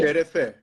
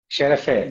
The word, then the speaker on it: şerefe: şerefe. Sherafe. Yes, Okay, so let's do Sherafe to the Christmas edition 2022. perfect. Sherafe. Şerefe.